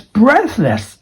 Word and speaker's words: breathless: I was breathless after playing a soccer match. Breathless is just the same thing. Going up in the first syllable, going down for the second syllable.